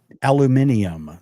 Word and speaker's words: aluminium: Aluminium. That's how they pronounce it in Australia.